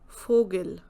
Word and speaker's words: Vogel: Same way here also, fear, not weir, fear, farter, Vogel. So every time the sound is F.